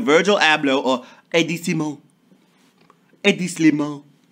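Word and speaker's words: Hedi Slimane: A.D. Slimane. It's French, so I gotta say it like that.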